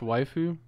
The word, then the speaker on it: waifu: It's pronounced waifu. Is it white? No, it's not. Yeah, it is. Is it waifu or waifu? Because it's like wife.